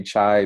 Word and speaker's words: chi: my training uh I I just learned it as Kai uh if you say chai because there's chai T out out there and there's other I guess well there's Chi not chai that's CH AI isn't it uh but there's other things with word chai I understand that I don't care so much how you say it long as you